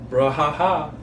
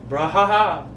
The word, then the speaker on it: brouhaha: this is how you pronounce it? Okay. Brouhaha. Can you see the definition of it? B-R. I'm not reading the definition. B-R. O-U. O-U. H-A-H-A. Brouhaha.